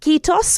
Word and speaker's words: Kiitos: this interview, and I hope I'm going to pronounce it correctly in saying "Kiitos", which is the word for thank you.